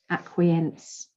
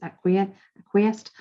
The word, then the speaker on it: acquiesce: Stay strong, stand your ground, and don't acquiesce. It's true. or whatever that means. Acquiesced.